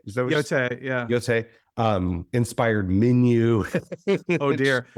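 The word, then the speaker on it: Yōtei: Yeah, and they've even got like a Ghost of Yutai. Is that how you say it? Is that what Yotei? Yeah, Yotei.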